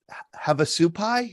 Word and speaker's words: Havasupai: And here again is your, I think this is your first book, Havasupai. Is that how you pronounce it?